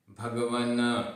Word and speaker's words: भगवन: भगवन, भगवन आधा न, भगवन, न पूरा नहीं है, भगवन।